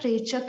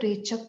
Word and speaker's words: Rechaka: Actually, A is only added when we write these things in English. So it's actually Purak, Rechak and Kumbhak. If you want to get the right pronunciation, it's Purak, Rechak, Kumbhak. Right?